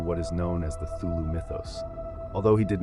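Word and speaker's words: Cthulhu: However, Lovecraft wrote that the closest pronunciation is Kulu.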